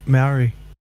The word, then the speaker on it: Maori: Maori? I don't know how to say that word. Yeah, you said it right. Maori.